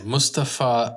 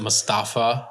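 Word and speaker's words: Moustapha: because who is the producer all right yes Mustafar Akkad yeah some people make pronounce it Mustapha like kind of like pasta yeah but but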